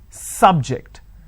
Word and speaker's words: subject: So I say biology is an interesting subject. I'm stressing on the first syllable. Okay. Now, I'm using another example. Please don't subject the students to any tests. So here my stress has moved to the second syllable. For example, when I say the exam is scheduled at 4 o'clock, the timings is subject to change depending on the circumstances. So that becomes a verb.